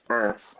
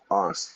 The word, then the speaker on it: arse: Americans say ass, I say arse.